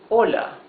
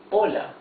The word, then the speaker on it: hola: Hola, right? Because the accent is in the O. It's not hola, it's hola.